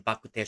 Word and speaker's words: bak kut teh: Especially in bakute shops, you'll find, or if you want in standard Chinese, rou cha, bakute is the Hokkien version, or rather the Hokkien pronunciation for this local dish that we have here in Malaysia.